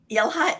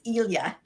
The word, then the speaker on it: Ilha: So I've been saying Ilha, it's Ilya. Ilya, yes. Ilya, and it means island.